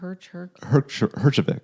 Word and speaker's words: Herjavec: How do you pronounce his last name? Herjavec.